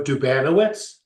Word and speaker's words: Dubanowitz: my name is Dubanowitz accent on the accent on the second syllable.